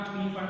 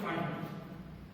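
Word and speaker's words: Pfund: फंड series HUND, पी silent है ना, पी फंड मत बोलना, सिर्फ फंड, है ना।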